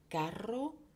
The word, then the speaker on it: carro: Caro, cher, carro, chariot. Dans carro, on entend bien distinctement les deux syllabes. Ainsi, on entend la double consonne.